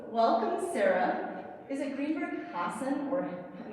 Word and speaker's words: Hassan: Is it Greenberg Hassan or am I? Yeah, Greenberg Hassan is Hassan. They say it here. My husband is Lebanese, so Hassan would be how they would say it in Lebanon.